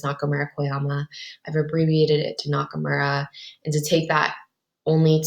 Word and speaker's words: Nakamura: I would say that most of my students call me by my last name, which is Miss Nakamura. So that's like knock and then so Miss Nakamura.